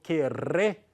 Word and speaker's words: querré: Yo querré, como son dos R's, una doble R, será una R más fuerte.